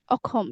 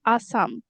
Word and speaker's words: অসম: That means in Assamese Ah, we say অসম. oh, that's totally different. I mean, it's hard to pronounce that actually, right? The Uh, pronunciation is hard. pron- Akom, Okom. Akhom, yeah, Akhom. But in English, Assam, Assam, And the language is Assamese, right?